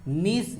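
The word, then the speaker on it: gneiss: नीस में, जी साइलेंट होता है, फॉस्फेट, ग्रेनाइट या फिर मार्बल।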